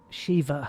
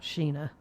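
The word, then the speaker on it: Sheva: myself president evil five Shiva I was close not Sheena Shiva he plays Chris and uh either have Shiva controlled by the computer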